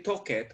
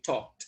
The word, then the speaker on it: talked: talked we talked okay we don't say toket we say talked remember the pronunciation super